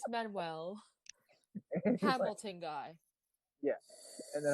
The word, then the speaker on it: Manuel: name so slowly boy i was about to say manueline it's manuel hamilton guy yeah and